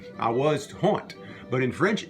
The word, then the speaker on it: honte: On prononce ça plus souvent honte que honte. On prononce le H dans le français louisianais.